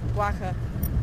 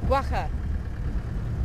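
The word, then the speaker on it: quagga: back the extinct guaca guaca it's pronounced guaca I always I always struggle with that one ooh lucky lucky we have a hyena guaca is that how you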